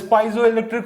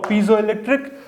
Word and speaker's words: piezoelectric: You call this piezoelectric or piezoelectric. Both of the pronunciation are alright.